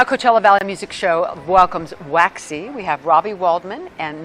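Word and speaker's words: Waxie: this urinal, and I kept seeing WAXY, but they spell it W-A-X-I-E.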